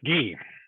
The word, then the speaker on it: Guy: But when we get to this substance, is it Guy or Guy? It's Guy. Guy, okay, Guy, please welcome and French pronunciation.